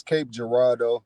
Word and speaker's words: Cape Girardeau: It's Cape Girardeau, Cape Girardeau.